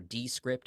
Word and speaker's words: Descript: have used called descript d-e-s-c-r-i-p-t or d-script if i do want to say it phonetically but they they're kind